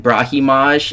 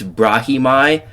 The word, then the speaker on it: Brahimi: Apparently, you don't say it Brahimage. It's Brahimi. So, my fault OG versus Billy Gooff, bro.